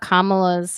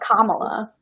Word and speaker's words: Kamala: No, she mispronounced Kamala. She She wasn't supposed missed to get it. Yeah, she called her Kamala instead of Kamala.